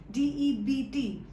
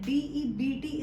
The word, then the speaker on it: debt: am in your debt, DEBT. As we also learn pronunciation of a few words in our videos. So here you must learn that DEBT is not debt, it's debt, right? Debt. B remains silent.